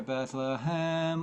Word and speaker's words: Bethlehem: Bethlehem Be not Afraid so on the word on the a syllable Hem of Bethlehem you've got two choices Bethlehem sorry Bethlehem or bethleem if you're a baritone or a Bas Here Comes again bases